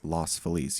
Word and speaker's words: Los Feliz: but in my opinion if you say Feliz Navidad is how you pronounce the song then you say Los Feliz you say you don't say Los Angeles you say Los Angeles you're right so it's lost F but if you live